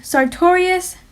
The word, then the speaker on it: sartorius: action of the sartorius you can think sartorius sounds like the word victorious and when a pirate